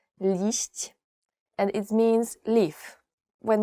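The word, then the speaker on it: liść: today is I guess it's very difficult to pronounce least and it means Leaf when you go and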